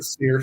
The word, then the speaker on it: SEER: hour what is uh how do you pronounce this sear rating SE sear sear rating and sear rating stands for seasonal Energy